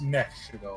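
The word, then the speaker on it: Nephe Shaddoll: It might just be Shadal, or it might be like Shadal. No, it's Nef. It's Nef Shadal.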